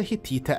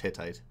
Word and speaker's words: Hittite: the world was the hitita Empire from over 1 500 BC where although he says in English it's usually pronounced hittite while the King was